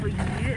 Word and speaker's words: 鱼: And the second reason is because the pronunciation of yu, fish, is the same as surplus, more in English.